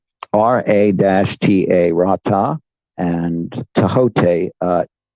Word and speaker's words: Ra-Ta: R-A-T-A, Ra-Ta, and Tahote. It's usually spelled T-H-O-H, but it's pronounced Tahote or Tahote.